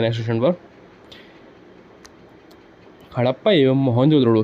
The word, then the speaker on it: मोहनजोदड़ो: मोहनजोदड़ो शब्द का सही उच्चारण है मोहनजोदड़ो।